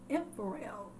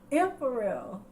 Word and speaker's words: ephemeral: Ephemeral. That's how you say it because it even has like that look.